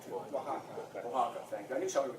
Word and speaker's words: Oaxaca: I probably pronounced that wrong too. Oaxaca, thank you.